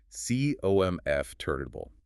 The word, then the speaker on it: comfortable: Remember, hit the first syllable hard and be lazy with the rest. C-O-M-F turtable.